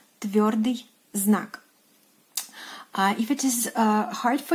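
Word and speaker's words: твёрдый знак: And in Russian, it is pronounced as tviordyi znak. Tviordyi znak.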